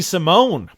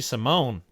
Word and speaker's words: Simone: little bit yeah ricky simone i've been pronouncing it simon all these years is ricky simone uh getting a win